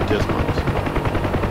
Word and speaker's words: DSMS: dysfunction of the Digital Sports Management System, or DSMS, often pronounced DISMOS.